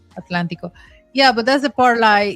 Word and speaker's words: Atlántico: farm part of the Atlantico. El Atlántico. Atlantico. Did I say pronounce correct? Atlantico? Yeah, Atlántico.